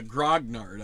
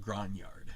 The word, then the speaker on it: Grignard: uh reaction so anyway the Grog nard I guess is how you pronounce it but I have this temptation to call it gron yard so uh and yeah